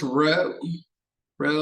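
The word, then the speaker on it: rho: density is usually given by it looks it's pronounced row row like that it's like a curly or cursive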